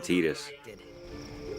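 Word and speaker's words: Tidus: I think even in that game somebody calls him Titus. So I uh feel like there's a gravitational pull to that pronunciation. It's just correct.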